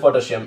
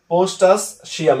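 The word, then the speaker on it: potassium: আই ইউ এম, তাহলে পটাশিয়াম এটা হবে। মানে মনে হয় যে পোস্ট আ পোস্টাস সিয়াম এরকম মনে হয়, কিন্তু না, তুমি উচ্চারণ পটাশিয়ামই করবে কিন্তু মনে রাখবে কার্ট স্পেলিং এর জন্য পোস্ট এবং এজ আছে, এতটুকুই যথেষ্ট।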